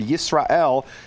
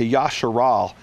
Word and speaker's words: Yisrael: So what he's done is he's stripped the Hebrew language of any historical pronunciation and now turned the word Yisrael into Yasharal.